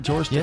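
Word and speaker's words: George Takei: George Tai, that is correct.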